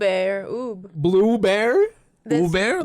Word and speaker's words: ube: ube or oob. Blue bear? Uber, like this- Uber.